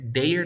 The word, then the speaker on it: they're: ¿Cómo suena? No existe there. There no existe. Pronúncialo there. There. Inténtalo. There. Exacto. There.